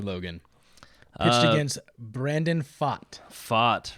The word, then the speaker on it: Pfaadt: Fott, right.